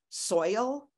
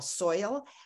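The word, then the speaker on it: Soyal: the Hopi Indians celebrate a festival that they call soil yeah like rhymes with royal soil where they welcome the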